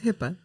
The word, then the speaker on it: HIPAA: Yeah, It's HIPAA.